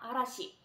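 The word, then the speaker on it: 嵐: 글자가 기념일 수 있는데요 이 글자를 발음 하실 게 4 아씨 이라고 발음합니다 아라시 그래서 정말 우리가 아라시의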